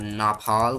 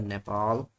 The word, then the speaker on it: Nepal: Not Napal but Nepal.